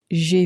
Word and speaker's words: j'ai: J'ai préparé. Make sure, again, when you're pronouncing I have, to pronounce it, J'ai. So, again, it's like the English letter J, really. but pronounced in a very French way.